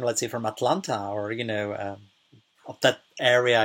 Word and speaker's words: Atlanta: pronunciation of the word like in the correct pronunciation would be Atlanta right mm-hm but somebody who's from there or